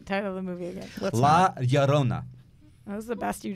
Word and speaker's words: La Llorona: La Llorona. I can't. Chavez. He is directing. It's only a sound if there's two L's together, right? La Llorona.